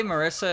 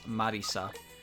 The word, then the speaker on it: Marisa: this is wall break i say marissa is marissa but if i use if i say her last name first i will always end up rolling off the tongue as marisa like both pronunciations are fine i think it's more of a dialect thing at that point because marisa is a real name there's no wrong answer there oh [